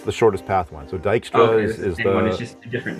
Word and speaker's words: Dijkstra: shortest path one so dykstra is just a different name dijkstra well it's pronounced dijkstra the j is kind of silent i think it's a